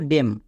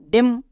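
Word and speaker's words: damn: তখন N silent থাকে এম এর পরে এন থাকলে তখন এন সাইলেন্ট যেমন দেখো ডেম এখানে এম এর পরে এন আছে তার মানে এন সাইলেন্ট তাহলে ডি এম ডেম next C ও এল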